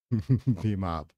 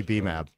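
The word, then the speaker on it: BMAB: B-mob. Oh, is that how to pronounce it, Dimitri? For real? Do you think that? Definitely B-mab. It'd be like the Spanish way to pronounce it.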